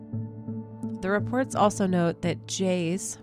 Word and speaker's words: Jais: The reports also note that Jays, which is spelled Jais, was looking for him,